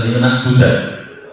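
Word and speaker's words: لِنَعْبُدَهُ: Lina'budahu, ingat terjemahannya atau bacanya adalah lina'budahu. Kenapa? Ini kalau kita perhatikan berarti karena ada nasab, jadi nasabkan lina'budahu.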